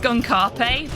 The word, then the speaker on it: Skunkape: It's because his name is pronounced Skunkarpe, but it's actually written Skunkape, which is why Sam and Max call him Skunkape.